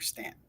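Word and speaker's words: Staunton: Look for Stuntton, but it's pronounced here Stanton.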